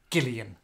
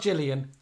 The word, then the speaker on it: Gillian: do you remember that one of the alessi twins had a hard g so it was gail and gillian not jillian well yeah gillian but